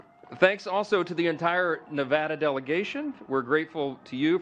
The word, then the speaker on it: Nevada: For my friends from Nevada, we are shaking. We're from Louisiana. Some people pronounce it Louisiana. So we always say Nevada, and now it's supposed to be Nevada.